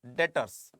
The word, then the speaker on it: debtors: कर सकते हैं बेटा, डेटर्स, DEBTORS, बी साइलेंट रहता है, डेटर्स कहते हैं इसको।